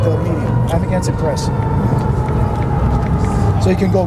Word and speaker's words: Amagansett: AmagansetT. Just make sure you got it right. Amagansett, and then second word is press, like the media. Amagansett Press.